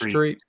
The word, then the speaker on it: Treat Williams: Is it Treat Williams or Tret Williams? I always heard it pronounced Treat.